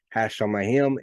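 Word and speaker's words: השמים: that's called aish P it doubles the consonant sound so this right here would translate or pronounce as hash on my him and it translates as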